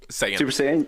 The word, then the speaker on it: Saiyan: go and we're gonna be talking anime here super cyan mode is that a thing Super Saiyan yeah yeah okay good I wasn't actually sure how to pronounce it I've read it so many times